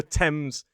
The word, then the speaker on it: Thames: Well, certain words pronounce it as a th like the river temps and Thomas.